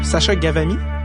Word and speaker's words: Ghavami: Le H cause beaucoup de problèmes. Les gens, ils savent plus trop comment le prononcer avec le H.